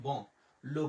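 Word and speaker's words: blanc: লোভ বং। লোভ ব মানে হচ্ছে ব্যাঞ্চ। এরপরে আমরা বলি যেমন সাদা। সাদার ফরাসি কি? সাদার ফরাসি হচ্ছে ব্লং। এখানে কিন্তু আমরা সের উচ্চারণ করি না।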